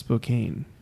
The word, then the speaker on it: Spokane: pronounced Spokane.